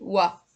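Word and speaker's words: は: Donc là, dans ce cas, vous devez mettre le joshi wa. Alors c'est le ha qui doit se prononcer wa quand c'est le joshi. C'est wa.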